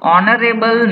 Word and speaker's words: honorable: number six what blank honorable man he is here the word honorable pronounce is O that means you can write here n article n will be here blank number seven this